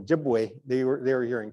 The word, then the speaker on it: Ojibwe: the word chipa was a word that was mispronounced as as the settlers heard us saying jibu they were they were hearing chipa and I